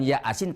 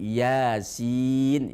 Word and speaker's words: Yasin: maka kita salah baca Yasin dibacanya ya asin ya bukan ya asin tapi Yasin ya-nya dua sinnya enam Sahabat Untuk itu berhati-hatilah